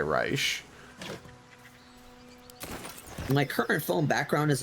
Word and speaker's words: Reich: His dad pronounces it Reich, but he goes by Reich.